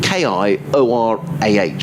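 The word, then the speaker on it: kia ora: kia aura means hello it's a maori greeting widely used in new zealand it's pronounced ki aura so k-i-o-r-a-h perhaps rachel you could let me never got that right ki aura ki ora rachel thanks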